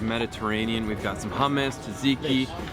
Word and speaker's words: tzatziki: We've got some hummus, tzatziki, although it's pronounced zazizi.